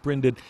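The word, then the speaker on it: brinded: branded or brined it i think is pronounced branded it means it means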